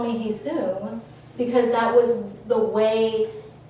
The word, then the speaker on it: Hyeseung: friends still call me Hyeseung, because that was the way it was easy for people to pronounce it, because like my vowel sounds, they don't exist in American English.